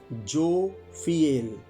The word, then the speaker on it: Jophiel: जोफिएल spelling इसके बोल देता हूं, JOPHIEL, जोफिएल।